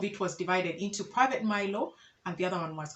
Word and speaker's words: Mailo: And I think the pronunciation, as Baganda, we tend to pronounce everything. So pronounce each and every syllable. So from mile came the word Milo, or at least from what we were told.